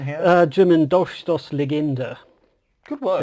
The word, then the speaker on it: Dolchstoßlegende: German Dolchstoßlegende. Good work. That little, well the one that looks like a B is actually a double S.